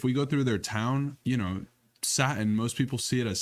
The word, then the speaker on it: Satin: They're just like, yeah, there was this band called Satin, Satan, and like that sticks with people. And that's how we people find it somehow- just keep spreading. People somehow say our name wrong.